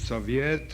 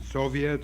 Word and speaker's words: Soviet: It is Soviet, or in American pronunciation, Soviet or Soviet, and I suggest that